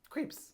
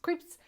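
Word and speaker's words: Krieps: Vicky creeps oh that's how you say it creeps creeps who is fabulous yes love Vicky creeps I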